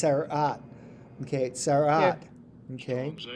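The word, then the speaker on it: צרעת: I believe it's pronounced sarat. Okay, sarat. Here. Okay. Psalms H 6883. Sara'ath. Oh, sara'at. Sara'ath. That's how this guy says it. That's how Strong's pronounce it. Sara'at. You gotta roll the R.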